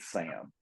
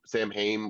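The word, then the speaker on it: Samhain: it's like uh the the the witch girl says it earlier it's like San ha Sam ha or like whatever the yeah which is a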